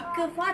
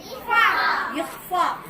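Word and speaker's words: إخفاء: இக்ஃபா சொல்லக்கூடாது. இஃபா ஹாவுடைய உச்சரிப்பு வரும்.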